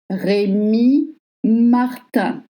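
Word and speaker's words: Rémy Martin: le cognac Réy Martin Réy Martin the letter Y in French makes the sound I in French.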